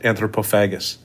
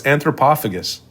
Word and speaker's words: Antropophagus: are you calling it all weird like that anthropophagus I what isn't that the title anthropophagus no no it's anthropophagus oh yeah whatever well that maybe that's the